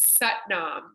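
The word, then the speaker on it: Sat Nam: my favorite ones is satnam satnam it rhymes with butt mom and it means I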